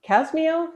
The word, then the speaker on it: CASMEO: She's also the president of CASMEO. Is that the correct way to pronounce it, Brandy?